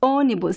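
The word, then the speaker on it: ônibus: using this expression uh onibus onibus here we have it's uh it's closed but it's also nasal onibus okay so let's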